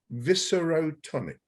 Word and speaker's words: viscerotonic: which is a very lovely word, and it's viscerotonic. And that's spelled VISCEROTONIC, viscerotonic, not necessarily viscerotonic.